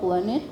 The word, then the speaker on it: BBLUNTED: She runs a business called BBLUNTED, but the B is silent. But the first B is silent.